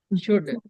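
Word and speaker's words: should: एल को नहीं बोलते हैं यहां पे ये साइलेंट है ठीक है शुड नहीं पढ़ेंगे इसको क्या पढ़ेंगे शुड और इसको ऑक्ट टू नहीं पढ़ेंगे क्या पढ़ेंगे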